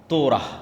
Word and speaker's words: তোরাহ: মুসা আলাইহিস সালাতু ওয়াস সালামের কওমকে যখন তাওরাত দেওয়া হলো, তোরাহ বলে ইহুদিরা উচ্চারণ করে যে তোরাহ, যখন তাওরাত দেওয়া হলো